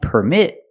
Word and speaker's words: permit: And permit, with the stress on the second syllable, is a verb.